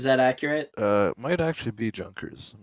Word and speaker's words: Junkers: I like this one it's spelled like the word Junkers but it's German so I think it's pronounced yonkers Adam is that is that accurate might actually be Junkers I'm not sure well